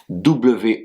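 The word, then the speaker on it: 我: Je se dis W 3è ton et s'écrit de la manière suivante.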